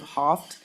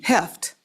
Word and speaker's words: Heft: Madam Chair, Representative Hoft, am I pronouncing that correctly? Okay, thank you. Heft. There we go.